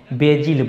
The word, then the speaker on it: basil: तो मैं आपको बता दूं, दुर्लभा का जो पौधा है इसको इंग्लिश में बेजिल बोलते हैं, BASIL, ये इसका स्पेलिंग रहता है। बेजिल भी बोलते, कितने आदमी बेसिल भी इसको बोल देते हैं, तो बेसिल प्लांट